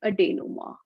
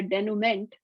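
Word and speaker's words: denouement: action sequence or climax is called a day no more so so we were talking about this and she said all these years i've been calling it a denument but that's not how you say it and i didn't learn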